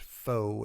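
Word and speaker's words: faux: if there's any republicans listening to this it's pronounced foe and means not real phony okay uh think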